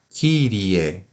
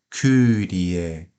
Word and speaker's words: Kyrie: A letra Y, como nós estamos falando, ela se assemelha à vogal I, mas ela pode ser pronunciada também como em grego, né? Porque essa é uma letra grega e, por exemplo, na palavra Kyrie, né? Kyrie eleison, nós temos o K e o Y.